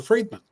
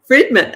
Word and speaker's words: Friedman: very happy to be here and it's fredman fredman okay I didn't know on the pronunciation I should have asked that before we went on the air fredman um we were chatting before we went on